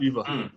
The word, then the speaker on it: Shiva: Is that how you pronounce her name? Yep. Shiva.